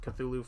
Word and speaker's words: Cthulhu: There's a few new Cthulhu games coming or Thulu games. I always pronounce it Cthulhu for reasons of uh hearing it the first time and getting it stuck in my head.